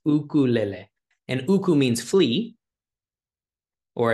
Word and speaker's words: ukulele: and the name itself is Hawaiian it's it's two different words uh that are still used in Hawaiian today uku so UK KU uku and then l l which sounds similar to almost Spanish pronunciation so it's ukuele and